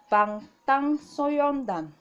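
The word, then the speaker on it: 방탄소년단: Now this is pronounced Bangtan Soyeondan.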